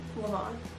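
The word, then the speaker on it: levain: I made my Lan leavon Le I don't know however you want to pronounce it I think both are correct so we'll just go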